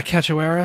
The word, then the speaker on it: Cachoeira: Cachoeira? Yeah, Cachoeira.